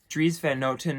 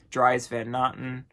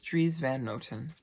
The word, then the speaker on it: Dries Van Noten: another Dutch designer it is Dries Van Noten trees Van Noten makes the most beautiful designs ever people don't know how to pronounce pronounce it I hear like dries van Otten assorted different things but it is trees Van